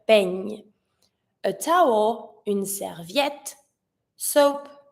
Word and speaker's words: peigne: Same thing, I need to hear the ñ, peigne.